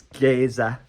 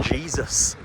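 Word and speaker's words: Geysir: My sat nav's pronouncing it Jesus, but I don't really feel comfortable saying that because it's not pronounced like that. So I'm just going to carry on with Geyser.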